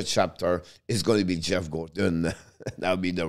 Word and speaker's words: Geoff Gorton: And the one who's going to write the chapter is going to be Geoff Gorton.